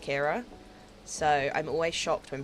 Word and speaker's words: Kyra: my whole life with people calling me Kyra, which is understandable because that is literally how my name is spelt, but it's obviously pronounced Kira, so I'm always shocked when people get it right first time.